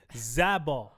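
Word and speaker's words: Olazábal: I don't like when when Spain pronounces their Z's with th. It's Z. Zabo. Olabo.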